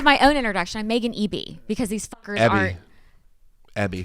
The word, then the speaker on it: BV: I'm Meagan Eby because these fuckers aren't. Abby. Like, Eby, whatever. Doesn't matter. it's like you told me backstage. EB rhymes with Backstage. BV. Got it.